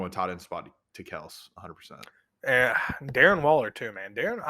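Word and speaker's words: Kelce: it the travis kels is it kels or kelsey he says it's kels everybody else says kelsey i've been pronouncing it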